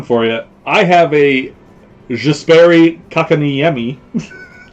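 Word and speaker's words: Jesperi Kotkaniemi: I have a Jesperi Kakaniemi. Dan laughs every time I say his name, but that's how you say his name. Jesperi Kakaniemi.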